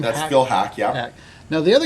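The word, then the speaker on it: Phil Haack: That's Phil Hack.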